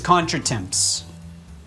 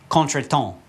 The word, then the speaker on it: contretemps: the next word is contra temps but that's not how you say it remember the French who I'm still mad at yeah they gave us this word and so it's contract